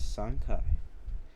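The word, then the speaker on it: 山海: the sea in Japanese we pronounce mountains and sea as sankai sankai can also mean three times so when I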